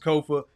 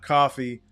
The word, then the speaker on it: Kofa: Once again, I am your humble host, Kofa, K-O-F-A, not coffee, not, not Kofi, or any variation thereof. Kofa rhymes with sofa, easy to say, easy to spell.